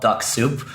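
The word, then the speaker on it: Dux-Soup: use a tool called Duck Soup. I'm not sure how much longer this is going to last for, but it's spelled DUX soup, like, clam chowder or something. So Duck Soup.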